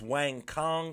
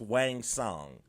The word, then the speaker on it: Wang Song: I've been pronouncing it as Wang Kong. I believe it's pronounced Wang Song.